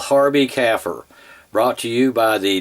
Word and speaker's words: kafir: Bill Warner, pronounce it kafir, almost like a cow's baby, a calf, and a type of conifer tree, a fir. Put it all together, you got kafir.